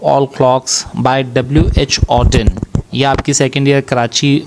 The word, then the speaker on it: Auden: डब्ल्यू एच की full form है Winston ह्यू ऑडिन।